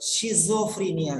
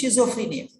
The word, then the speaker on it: schizophrenia: otherwise you listen but you don't understand anything pronunciation for example there is one girl who told schizophrenia she's afraid yeah there's one girl she told